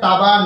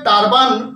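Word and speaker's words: turban: শব্দের সঠিক উচ্চারণ হবে টাবান ট আকার বয় আকার দন্তন্য উচ্চারণটা কেমন হবে টি ইউ আর বি এন টাবান উচ্চারণটা টারবান হবে না টাবান টার্বান নয় টারবান নিশ্চয়ই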